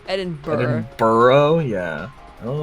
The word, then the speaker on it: Edinburgh: Every time I see it, I want to say Berg. Well, cuz it's spelled Berg. I want to say Burrow for some reason. Eden Burrow.